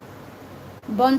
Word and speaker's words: bom: So, but it's still pronounced bon, because we don't pronounce the M like bomb.